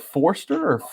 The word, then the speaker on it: Forster: your name is it is it Forster or it is Foster the first R is silent which gets it trips everyone it tripped me just